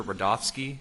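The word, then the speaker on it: Rudofski: record special agent Peter rodofsky that's r-u-d-o-f-s-k-i and it's pronounced Rudolph and then ski how you doing today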